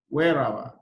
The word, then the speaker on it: Weeraba: And in Luganda, you say wherever.